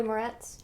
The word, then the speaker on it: Moretz: last name to say my life Oh Chloe Moretz yeah moretti grace for us yeah um she